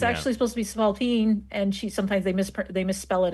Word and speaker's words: spalpeen: It's actually supposed to be Spalpeen, and sometimes they misspell it as Spalpeen.